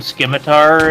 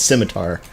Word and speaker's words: scimitar: as like a rune scimitar and I've secured skate beauty and you've you're both a Bruin to bear do not pronounce the C harsh harshly it's just a scimitar not scimitar whatever you whip out